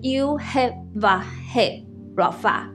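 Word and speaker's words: יהוה רפא: 就是 Yehovah Rapha， Yehovah Rapha。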